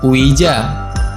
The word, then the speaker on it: Ouija: Cara baca yang benar adalah Ouija.